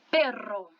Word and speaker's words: perro: Quando ele está dobrado, são dois, que até é um dígrafo do espanhol, os dois R juntos, a vibração vai ser forte. Então, aqui você tem perro, tá?